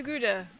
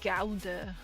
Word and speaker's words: Gouda: I have been to Gouda.